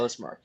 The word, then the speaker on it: LYSTM: It's it's Lismark. Yeah. It's kind of like Lyft. Yeah. Yeah. Yeah. Okay. But Lismark.